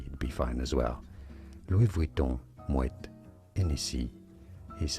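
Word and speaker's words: Louis Vuitton Moët Hennessy: Louis Vuitton, Moet, Hennessy is how you pronounce that, or in English, Louis Vuitton, Moet, Hennessy.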